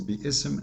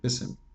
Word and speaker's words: بسم: We pronounce it, but we don't see it, right? But the fact it is there. If you want to say the word correctly, it is Bism, not Bism.